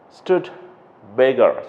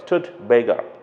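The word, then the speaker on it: Studebaker: a look at that stood bigger stood bigger okay this is how you have to pronounce it and it's an old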